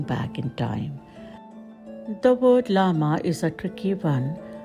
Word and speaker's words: llama: The word llama is a tricky one, pronounced as llama by the locals, as it has double L that takes the pronunciation as ya.